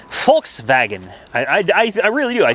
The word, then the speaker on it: Volkswagen: and I'll avoid the Volkswagen as well or the folks wagon I think is how it's pronounced that could be wrong